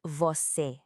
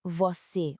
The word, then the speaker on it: você: E segunda, o som deste é fechado, por isso não se diz você com a boca aberta, mas sim você, um som mais contido e preciso.